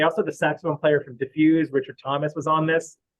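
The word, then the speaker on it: Dif Juz: Also, the saxophone player from Diffuse, Richard Thomas, was on this, and I love Diffuse or Diffjez, or however you want to pronounce it, but I think it's Diffuse.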